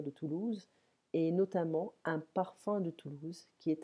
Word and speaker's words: parfum: la parfumerie à cannes parfum parfum attention ce n'est pas là la parfum c'est comme ça p ar fqm un parfum mais la prononciation ses parfums comme fin j'ai faim respirez estime brise ce